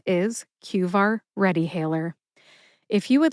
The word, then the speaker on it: QVAR: By the way, I just call it cqar. I typically drop that second word readyh hailer in conversation. However, the true name, the full name is cuar readyhailer.